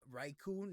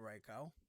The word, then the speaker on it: Raikou: right now oh um riko so raiku not Raikou it says r-a-i-k-o-u which is right right cool I go right cool right cool that's how it's pronounced right cool okay oh